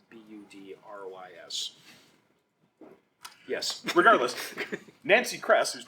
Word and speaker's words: Budrys: I don't think I've actually ever heard anyone pronounce his name. It's Budrys.